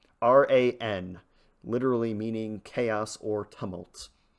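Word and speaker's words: Ran: R an literally meaning chaos or tumult. You're not supposed to pronounce it like the name Ron, but uh I don't speak Japanese, so Okay.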